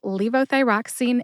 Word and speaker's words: levothyroxine: for joining me to learn how to say Leo thyroxine and enroy to find the show notes for